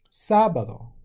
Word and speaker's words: sábado: Jueves, viernes, sábado, accent on the first day.